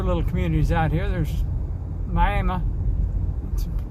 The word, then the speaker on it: Miami: or three other little communities out here there's Miami it's spelled Miami which is the way most of you pronounce it but the local pronunciation is Miami and then a little place called Central Heights